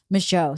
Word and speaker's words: Michaud: So, Michaud. Okay, well, you were right. French. Oh, Francais. Michaud.